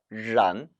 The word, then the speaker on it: 然: 란 권설음 발음이 정확한지 아닌지를 살펴보려면 모음을 잘 들어보라 그랬죠? 즉 아 모음이 살아있어야 합니다. 란 이거를 란으로 발음하면 벌써 틀린 발음이에요.